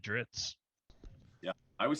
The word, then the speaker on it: Drizzt: I always said Drizzit, and that was so wrong. Drizzit too. I always says Drizzit too. I always said Dritz.